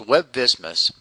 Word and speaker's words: WebVSMIS: review the reimbursable amount web vsmin pronounced web business is a web-based system